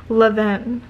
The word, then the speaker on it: Levain: Levain. It's pronounced Levain Bakery.